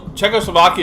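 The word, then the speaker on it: Czechoslovakia: it wrong but then I thought I looked it up at one point I thought oh I'm actually saying it right anyways it's just checko Slovakia is in that weird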